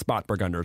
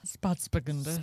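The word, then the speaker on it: Spätburgunder: It's Spatburgunder. It's not Spatz. Sorry. It's Spatburgunder. I'm throwing a syllable of S in there. Spatburgunder. Spatzburgunder.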